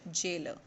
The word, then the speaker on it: gaoler: The term that is used in the chapter, that is gaoler here, but we will pronounce it jailer.